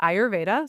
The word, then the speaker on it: Ayurveda: So it's pronounced Ayurveda. So you said that really well. Ayurveda, Ayurveda.